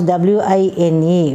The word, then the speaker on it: wine: you pronounce this w-i-n-e so you have to round your lips that is wine wine this is the